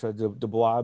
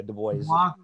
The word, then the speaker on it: Du Bois: Yeah, it's French, Du Bois, but yeah, Du Bois.